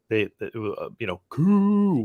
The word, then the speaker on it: Koo: When I was at the Falcons game, every time that he came out, Koo, which is great. It rhymes with boo and all that.